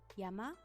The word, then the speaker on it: 山: You can read it as yama and it means mountain.